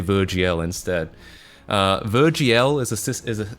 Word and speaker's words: virgl: um something called virgl virgl I think it's supposed to be pronounced Virgil but every time I say that people say they think I'm I'm saying um I'm virgin so I'm going to say virgl instead uh virgl is